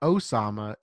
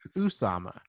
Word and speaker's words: Usama: a little sketchy because his name is not Osama, it's Usama.